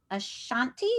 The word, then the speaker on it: Ashanti: And she speaks French and Ashanti.